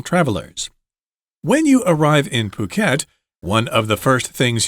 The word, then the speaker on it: Phuket: Notice that it's pronounced with a p sound. Phuket, Phuket, Phuket.